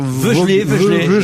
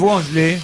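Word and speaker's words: Voegele: Alors cette semaine, c'est Kate Vogele, ça s'écrit V-O-E dans l'eau, G-E-L-E. Alors, Veugelé, mais enfin, elle est américaine. Veugelé.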